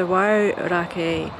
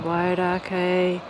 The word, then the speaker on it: Wairakei: So 4 kilometres drive back from the Aratiatia power station, and we've come across the Wairakei power station, which is run by Xanthe Wyse.